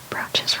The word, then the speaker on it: brooch: I always spell brooches wrong half the time because you don't spell it like you say it. It's brooch, but it's spelled like broo.